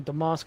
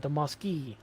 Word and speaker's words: Damaski: Okay, that's kind of like how people keep calling me Damask instead of Damaski.